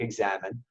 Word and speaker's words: examen: or the examine it's it's spelled e^x a.m. he and from the Spanish it's Amin it sounds like examen is really a review